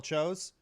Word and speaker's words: Tso: General chose Um, actually, yeah, a lot of people don't know this.